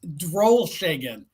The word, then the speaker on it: Drolshagen: It's Drolshagen. Every letter is Drolshagen. pronounced, and it looks great on the back of a hockey jersey.